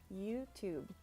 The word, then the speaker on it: YouTube: And the E at the end of words is usually silent. So YouTube.